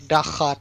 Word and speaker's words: Daakat: What's the proper way to pronounce it? More of, it is like Daakat.